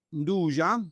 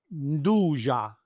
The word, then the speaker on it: nduja: Calabria è anche nduja, salami spread, è about rosa marina, But to cut you off, can you repronounce that again? nduja. Okay, everyone goes Nduja, No, Nduja.